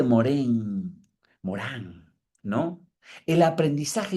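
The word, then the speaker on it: Morin: Es la mirada piayetiana de la realidad, la mirada moriana de Edgar Morán, que se escribe morín, pero se dice morén.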